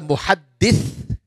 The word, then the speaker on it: muhaddith: One is a muhaddith and one is a muhaddath. What is the difference? Of course, the pronunciation is different.